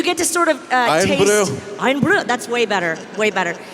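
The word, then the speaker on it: Irn-Bru: Iron brew? Is that right? Do you get to sort of taste... Iron brew.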